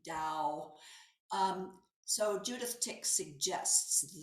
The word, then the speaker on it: Tao: lao tzo from the tao and or actually i probably mispronounced that i think it's meant to be dao um so judith tick